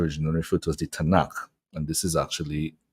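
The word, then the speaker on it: Tanakh: n and the K so that it can be pronounced as a word but the acronym is actually TN and K T stands for Torah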